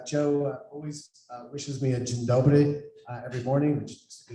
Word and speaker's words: Dzień dobry: Dzień dobry. Dzień dobry.